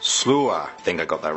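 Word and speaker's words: Sluagh: Next we have Sully1017 who says Derg Du is pronounced Darug Dua, Alp Luatra is pronounced Alp Ukra, and Slough is pronounced Slua.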